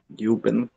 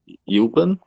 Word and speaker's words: üben: Üben. So say you and try to close your mouth, or maybe make this whistling. How do you whistle? Like you have to like this do this like make your lips form a circle.